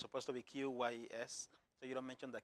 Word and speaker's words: QYES: In short, yes, the Q is silent. So it's supposed to be QYES, so you don't mention the Q.